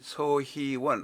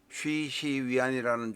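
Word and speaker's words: 徐熙媛: 그런데 이 서희원, 우리 한글로 발음하겠습니다. 쉬시위안이라는 중국 발음을 하려니까 조금 어려워서 그냥 한글 서희원으로 올리겠습니다.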